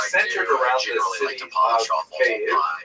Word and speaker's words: Kyiv: That's the Ukrainian pronunciation, by the way. That's favored today because, of course, Ukraine is extra slices of pizza. But it used to be called in English Kiev, which is closer to a Russian pronunciation because Russia dominated much